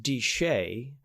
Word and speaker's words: DSHEA: the dietary supplement health and education Act it's pronounced deshay and the law the regulation if you will